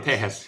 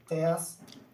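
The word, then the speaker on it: Tejas: Um, I'm gonna go uh for my number eight is going to be Tahas. Am I pronouncing that correctly? Yeah, Teahas. Yeah, Teahas.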